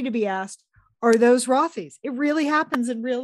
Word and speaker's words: Rothy's: and get ready to be asked are those rothies it really happens in real life plus get